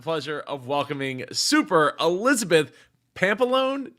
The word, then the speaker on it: Pampalone: I have the pleasure of welcoming Super Elizabeth Pampalone. Did I say it right? Is it Pampalone? That's right. God, nailed it.